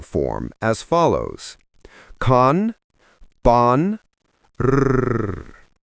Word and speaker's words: Rrr: These mantras are vocalized in a singing form as follows: Kan, Ban, Rrr. The letter R is pronounced with a high sound and rolled, imitating the sound of the rattles of a rattlesnake.